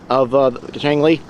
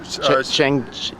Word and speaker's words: Shang: Are you a big fan of Shang-Li? Shang. It's Shang, but I've been pronouncing it for years wrong as well, so Don't feel bad.